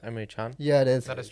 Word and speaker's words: Emre Can: find it's pronounced Emre Can.